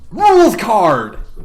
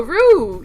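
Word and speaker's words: Rouxls Kaard: just got it well cuz I was trying to pronounce the X I was like no no Rue yeah Rue Rue like like a rue in your soup or like yeah rules card okay rules card the rules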